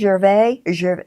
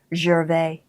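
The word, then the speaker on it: Gervais: on the salvage Sandy Jerv. See I'm saying pronouncing it French. Jer it's Sandy Jer.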